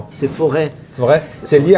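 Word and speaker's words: Forez: C'est forêt. Forêt. C'est lié à la forêt. C'est faux RZ. Ouais. Ça n'a rien à voir. Le Z se prononce pas.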